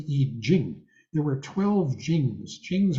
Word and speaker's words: I Ching: everybody knows about the I Ching, which is actually pronounced the I Jing.